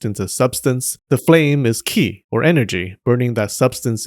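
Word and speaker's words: 気: In Japanese, they're pronounced sei, ki, and shin.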